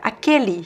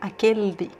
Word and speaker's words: aquele: So here we also have aquele. Here you see the L is normal because there's a vowel after it. Then you can pronounce the L sound, aquele.